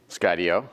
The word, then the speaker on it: Skydio: SO HOW DO YOU PRONOUNCE THE COMPANY NAME? SKYDIO.